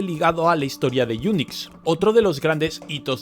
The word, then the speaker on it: Unix: ahora bien resulta que en inglés unix se pronuncia igual que eunucos y la proba de